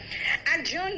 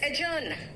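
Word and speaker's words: adjourn: एडजर्न नहीं है। इट्स एजर्न।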